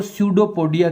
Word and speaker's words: pseudopodia: These are called pseudopodia. P आगे लगा हुआ है लेकिन इसका उच्चारण नहीं होगा। Pseudopodia, इसकी बॉडी पर जो ये इस तरह की रचनाएं होती है, प्रोजेक्शंस होते हैं, उनको स्यूडोपोडिया कहते हैं।